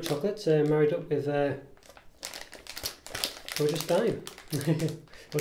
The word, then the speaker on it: Daim: They used to spell it D-I-M-E, and for some reason, probably to bring it in line to other countries, they've changed the spelling to Daim. But it's probably still pronounced Daim, actually, looking at it, but